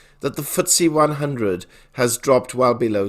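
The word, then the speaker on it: FTSE: the last year to the footsie 100 pronounced footsie which monitors the performance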